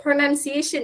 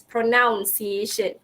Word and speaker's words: pronunciation: out to them okay even in the word pronunciation itself many students would say as pronunciation okay originate it originates from the word pronounce but then it's pronunciation so that's how I